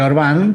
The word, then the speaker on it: Orbán: Caí viendo que es Orbán con acento en la A.